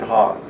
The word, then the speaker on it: Houck: judge, his name was Houck. Hout? Houck, Hout. like hawk. I think he pronounced it hawk.